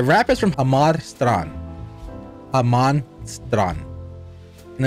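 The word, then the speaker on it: Jamastran: no Jesus is Jesus everything with J is is pronounced with the H in Spanish so Haman is where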